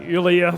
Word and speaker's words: Yulia: It says sounds like Julia, so Yulia.